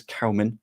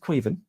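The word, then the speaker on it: Caoimhín: get this 100% right everything I've heard about people pronouncing it is Cowman or something along those lines but J pronounced it quen I'm going to stick with queven because that's how the Irishman said it so I'm going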